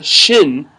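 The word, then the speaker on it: ش: then we have sh the letter shin which is like shu letter shin which is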